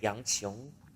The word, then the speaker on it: 杨琼: Okay, I keep pronouncing his name wrong all the time, and I think I owe him an apology.